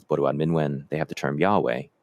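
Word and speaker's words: yawe: And Anishinaabe, in their the language is Bodwewadmiwin, they have the term Yahweh, y a w e, Yahweh.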